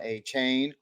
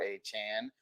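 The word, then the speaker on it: Achane: and were bidding for Devon a chain or a Chan however you want to pronounce it and what does that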